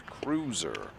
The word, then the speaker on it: Cruiser: I've been told that I've been mispronouncing her name. Actually, I asked how to pronounce her name and was told that I've been saying it wrong, so it's Cruiser.